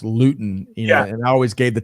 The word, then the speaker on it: Luton: It's always been Luton pronounced in school, although it's pronounced Luton.